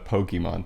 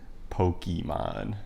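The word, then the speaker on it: Pokémon: Yeah, I think it's actually Pokemon, but not. Because it comes from Pocket Monster. Yeah. Yeah. Pokemon. That's like the American way to pronounce it.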